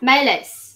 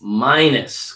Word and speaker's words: minus: That's the I sound. Minus. Minus.